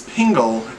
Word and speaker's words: Pingel: that's funny because my name last name is Pingel and people always mispronounce it I always say tingle Dingle Pringle Dingle single tringle are you a